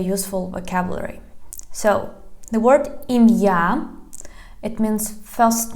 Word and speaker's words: ім'я: So you just need to make a pause.